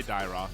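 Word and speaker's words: Dyrroth: Not gonna be surprised if that is how do you pronounce that actually? Dyroth? I say Dyroth.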